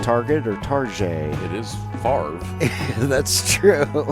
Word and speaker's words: Favre: It is Favre. That's true. Favre?